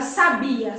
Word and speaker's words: sabia: bem assertivo por exemplo a palavra sabia sabiá e sábia são palavras que tem a mesma grafia o que muda ele cada uma delas é aonde nós marcamos a sílaba tônica então quando eu falo